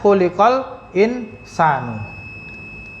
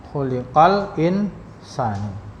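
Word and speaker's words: خُلِقَ الْإِنْسَانُ: kemudian insana nah atau Tadi Mbak bacanya khulqal insanu J kalau kita membaca khu khuliqal insan manusia telah diciptakan Jadi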